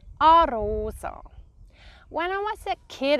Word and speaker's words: Arosa: We pronounce it Arosa. Arosa.